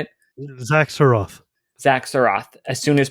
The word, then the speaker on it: Xak Tsaroth: Xak Tsaroth.